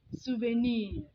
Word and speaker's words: souvenir: The original French pronunciation is souvenir, which means remembrance or an object you have bought, an artifact that gives you memories of time past.